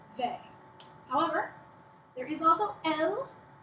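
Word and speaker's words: elles: However, there is also elle, E-L-L-E-S, elle, pronounced just like elle, she, and this also means they, but you can only use it if it's a group of all girls.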